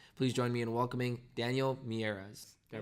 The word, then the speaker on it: Daniel Miyares: Uber this fall please join me in welcoming Daniel mieres can I pronounce that right that is correct awesome thank